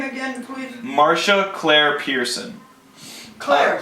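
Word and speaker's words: Marcia: you about Marsha uh so Marsha it's spelled m a r c i a Marsha CLA Pearson founded Seattle's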